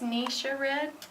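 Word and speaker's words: Ningxia Red: from the wolfberry and it's pronounced Nisha red I call it ninja red it's a whole body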